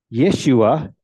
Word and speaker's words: Yeshua: even more so in this name of Jesus Yeshua as it's originally pronounced means the Lord saves the messiah's name